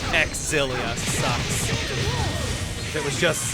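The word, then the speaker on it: Xillia: If we're going by canon pronunciations, X-Zilia sucks. If it was just Zilia, I'd be fine with it. But because you're canonically supposed to pronounce and emphasize the X, I think it sounds really bad.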